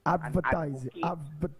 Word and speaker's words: advertising: You have to start pronouncing the D in the word advertising. Advertising. You always say advertise and advocate. Yeah, well, that one I could take on. Yes, he should pronounce the D.